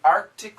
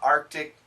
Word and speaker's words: Arctic: to say the the Arctic some people in Canada they say the Arctic but in America the